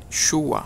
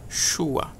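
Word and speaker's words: שוע: Shua, a pronúncia ainda é a mesma, Shua.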